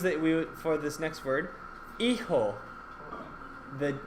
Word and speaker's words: hijo: The H is silent. The J makes the H sound.